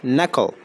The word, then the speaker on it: knuckle: knuckle right د دې صحیح تلفظ knuckle.